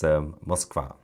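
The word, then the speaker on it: Москва: Russian pronounced Moskva.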